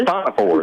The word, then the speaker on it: Siphonophores: What can you tell our audience about giant Siphonophores. Siphonophores. Siphonophores, that's right. Yeah. It's a Greek word.